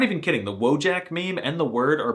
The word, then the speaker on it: wojak: I'm not even kidding, the wojak meme and the word are Polish, but it's actually pronounced wojak, which is the most alpha Slavic masculine thing I've heard.